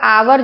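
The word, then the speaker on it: hour: ये आपका आवर जो है वो साउंड कर रहा है वोवेल का। और है इसमें कसोनेंट एस से शुरू हो रहा है लेकिन यह साइलेंट है तो वोवेल का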